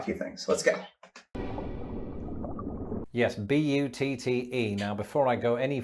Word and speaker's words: butte: And it's probably quite an appropriate pronunciation because buttes are often beautiful, or at the very least, stunning.